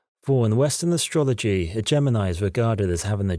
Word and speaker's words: Gemini: He goes by the name of Gemini, pronounced in a similar manner to Disney's Jiminy Cricket.